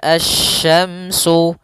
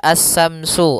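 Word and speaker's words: الشمس: Pada lafal asy-syamsu, di sini ada alif lam syamsiyah, yaitu alif lam yang ditulis tapi tidak dibaca, sehingga bacaannya langsung ke huruf shin. Nah, kemudian kita juga harus hati-hati dalam pelafalan huruf shin. Jangan dibaca as-samsu, as-samsu wal qamaru, bukan. Atau juga as-samsu dengan sa, bukan.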